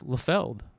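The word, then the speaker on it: Liefeld: It's Lefeld, Rob Lefeld. So I can't wait to see him. So I can say, Mr. Lefeld.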